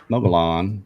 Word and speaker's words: Mogollon: gone and subscribed to mo Yeon monster it's pronounced mogul Mogollon where's the banner is the banner here okay